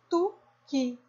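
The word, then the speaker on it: תוכי: Que o Kaf tem som de K, mais o Irik Gadol som de I, Ki. Então, vamos juntar. Tu-Ki. Tuki.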